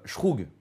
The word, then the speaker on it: zhoug: une chose est sûre, ça se prononce pas "zhoug", mais plutôt "shroug", ou quelque chose comme ça.